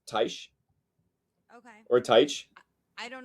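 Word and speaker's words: Taix: Very, Tex is how it's said, but I think your way sounds better. No. Tex rhymes with Rex.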